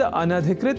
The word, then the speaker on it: अनधिकृत: पर हम जब न या अन और अधिकृत इन दो शब्दों से मिलकर बने अनधिकृत शब्द के अपने संप्रत्यय को दृढ़ कर लें तो संभवतः भूल से भी इस शब्द के उच्चारण और लेखन में अशुद्धि नहीं होगी। तो यह शब्द अनधिकृत इस रूप में ही है।